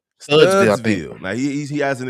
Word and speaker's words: Studesville: Eric, what's how you say it? Studesville, Studsville, Studsville.